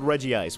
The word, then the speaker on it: Regice: anything like that but most people I've heard call it Reggie ice which I guess makes sense if they're actually supposed